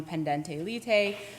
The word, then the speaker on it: pendente lite: The second type of support that I will discuss is, again, alimony pendente lite. You will hear some people pronounce that differently, but that's how I learned to say it in law school.